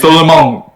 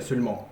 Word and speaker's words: seulement: I know this word, yeah, seulement. Not seulement, but seulement. It's very strange, yeah.